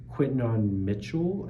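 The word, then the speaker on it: Quinyon Mitchell: I think it's Quinton Mitchell is how you say it, the cornerback for the Eagles.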